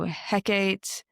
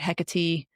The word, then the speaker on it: Hecate: One such curse was found at a grave addressed to Hecate. I've also heard Hecate. Uh I've heard both ways on pronouncing her name.